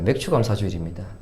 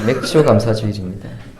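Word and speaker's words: 맥추감사주일: 맥주감사주일입니다. 저희 예우진이가 오늘 그 감사절기 봉투에 맥주감사주일을 맥주감사주일로 그렇게 적었는데 발음 잘 하셔야 됩니다. 맥주감사주일입니다. 보리맥자를 쓰는 것이죠.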